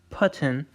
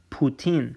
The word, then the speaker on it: Putin: to pronounce this so as in putin so the same way that we're pronouncing this putin it's not patent it's poutine so it's ooh that is the sound okay now the uh